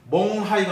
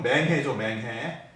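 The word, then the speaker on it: 勐海: 징홍에서 쭉 1시간을 차를 타고 가면은 멍하이가 나옵니다. 멍하이. 우리식 발음으로는 맹해죠.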